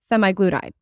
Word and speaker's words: semaglutide: The other day, I saw this thing about this doctor talking about semaglutide.